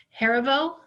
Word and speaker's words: Heriveaux: Kamisha, am I pronouncing your last name correctly? Heriveaux? Yes. Great.